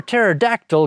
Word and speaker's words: pterodactyl: And do you know why you can't hear a pterodactyl go to the bathroom? That's because the P is silent.